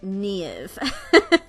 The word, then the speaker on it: Niamh: very Irish name, and the MH in my name makes a V sound, because in the Irish language, MH usually makes a V sound. So my name is pronounced Niamh. So I'm sure that's very